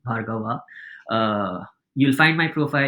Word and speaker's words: Bhargava: vov with VA my the last a in my surname is silent Bava uh you'll find my